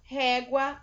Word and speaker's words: régua: Então, as palavras em que o U é pronunciado são régua, água, guaxe, égua e guaraná.